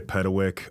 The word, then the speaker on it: Petkewich: I am here with my guests and fellow speakers of the last event, John Amomar of NextTech and Pedawick of the Catalyst Mastermind.